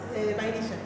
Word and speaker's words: vainilla: Vainilla.